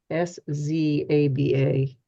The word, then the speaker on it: Szabo: And his last name, Szabo, is Szaba.